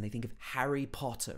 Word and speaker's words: Harry Potter: harry potter right so he actually pronounces both of the t's in harry potter harry potter he doesn't say harry potter he's harry potter and again he gets this very british o sound in the middle potter and then it